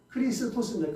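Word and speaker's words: Χριστός: 여기서 이제 그리스도라는 거는 그 헬라스 원래은 크리스토스 크리스토스 우리는 그리스도 하죠 그다음에 히브리어는 메시아 원래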